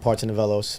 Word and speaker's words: Partsinevelos: is so my full name is Parton nelos my uh father's Greek my mother's Puerto Rican